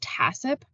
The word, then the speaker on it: HACCP: reduce the number of microorganisms next acronym is pronounced tacip which is the hazard analysis and critical control